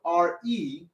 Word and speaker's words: re: good then we have the next note r e r and e spell rey everybody say re